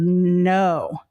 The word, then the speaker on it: know: But silent letters could also be like this in the word no, right? The K is silent.